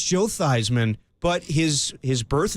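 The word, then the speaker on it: Theismann: I know it's Joe Thyman but his his birth name is Joe Thesman. He changed it to Thyman to rhyme with Heisman.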